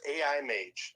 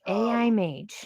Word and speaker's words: AiMAGE: How do we pronounce the name correctly of your project? So it's AiMAGE. AiMAGE.